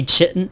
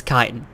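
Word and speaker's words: chitin: be removed without consideration I hate it when people say chitten it's kitan also people want to say fos sites it it really is fosite sorry that's how you say it anyway kitan Kiton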